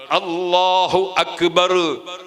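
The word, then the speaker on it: الله أكبر: അല്ലാ എന്നത് തൊണ്ടയുടെ ആ തലക്ക് നിന്ന് മൊഴിയുന്നത് പോലെ, ഉച്ചരിക്കുന്നത് പോലെ അക്ബർ എന്ന അ എന്ന അക്ഷരവും തൊണ്ടയുടെ ആ തലക്കുന്ന് തന്നെ ഉച്ചരിക്കണം. അപ്പൊ അല്ലാഹു അക്ബർ. അപ്പൊ ആ എന്ന ഉച്ചാരണം ശരിക്ക് കൃത്യമായിരിക്കണം.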